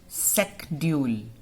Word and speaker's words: schedule: Earlier we used to pronounce it as a schedule. श बोलते थे हम इसको, CH को. But now the pronunciation has changed. Now we pronounce it secdule. Secdule.